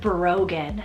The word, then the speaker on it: Brogan: next up here on the boys side is Brogan spelled b-r-o-g-a-n Brogan this is one of those really cool